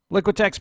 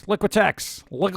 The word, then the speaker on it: Liquitex: put that past Hollywood liquitex paint markers liquitex effects you gotta say it like you have liquid in your mouth works Tombo Tombo what